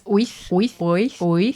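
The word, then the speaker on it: wyth: 8 is oith. Oi, thief. You're making away with 8 things. Oi, thief. Oith.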